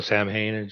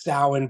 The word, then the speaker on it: Samhain: like a little kid with like a little Sam Haynes shirt or something like that absolutely absolutely I